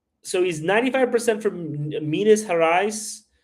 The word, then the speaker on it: Gerais: So he's 95% from Minas Gerais, or no, you call it Gerais, right? You guys do the hard G.